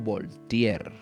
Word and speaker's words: Voltaire: este hombre se llamó se escribe voltaire lo puedes producir como voltear o voltear se voltear fue un